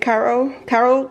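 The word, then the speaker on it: Karo: I got some Caro syrup. That's how you say it, Caro corn syrup for some baking.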